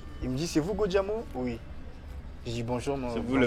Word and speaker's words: Go Diamo: C'est comme ça que les Angolais prononcent Gojamo. Ils disent Godiamo.